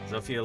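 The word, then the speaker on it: Zofia: Uh, Zopia like Sophia. Sophia with an F instead of a PH player.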